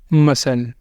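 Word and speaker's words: muscle: हो सकते हैं तो इन लेटर्स इन वर्ड के अंदर लेटर सी जो है वो आ रहा है एस के बाद इसलिए यह सब में सी साइलेंट है सी की हम आवाज नहीं दे रहे सी को हम बोल नहीं रहे और दूसरा हमारे पास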